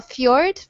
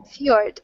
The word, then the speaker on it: fjord: Like, I still can't pronounce this very well. Fjord. Fjord.